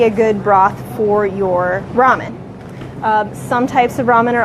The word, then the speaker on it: ramen: you and so you'll notice I'm saying it ramen not Raymond ramen is generally regarded as the correct pronunciation unless you're Korean and then you would